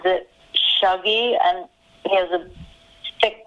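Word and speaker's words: Shuggie: the name of the main character like he pronounces it shuggy and he has a thick scottish accent i pronounced as suggy so that's the boy and it goes from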